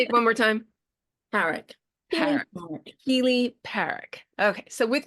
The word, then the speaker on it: Parrack: Well, I pronounce it Parrack, but lots of people pronounce it Parrack, which I think is quite fancy.